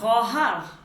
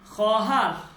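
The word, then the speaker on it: خواهر: এরপর হচ্ছে খহার, খহার, ঠিক আছে? খহার, খহার মানে হচ্ছে বোন। খহার মানে কি? বোন, বোন। আচ্ছা, এইখানে যে ওয়াওটা, এই ওয়াওটা লেখায় আসবে কিন্তু উচ্চারণে আসবে না।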